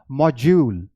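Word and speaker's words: module: Right, ये मॉड्यूल नहीं है, मॉड्यूल नहीं है, दिस इज मॉड्यूल, मॉड्यूल। और ये दोनों इंग्लिश में, ब्रिटिश इंग्लिश में, इसलिए ये मैंने मेंशन किया है।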